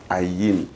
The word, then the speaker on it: Ayim: Yes, the real pronunciation Not Ayim. From my forefathers. Yes. You know, I come from Awing. Yes. Okay. The Awing man pronounces it Ayim.